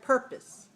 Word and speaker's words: purpose: one has a reduced so we have the word purpose and the second syllable is very small right so when you say this word purpose purpose make the second syllable very small make sure your lips are relaxed purpose purpose good how about you say